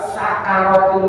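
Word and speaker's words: سكرات: Makanya bacanya sakarat, jangan pakai sin gede, jangan sin yang ada titik 3 itu. Syakarotnya syukur. Ya, sakaro pakai sin yang tidak ada titik.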